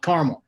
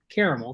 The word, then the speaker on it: caramel: Oklahoma too long because most people in the southern plains call it karma oh-hoo syllables and not three Texas because it's caramel there and I pronounced caramel because there's clearly three syllables and so let's say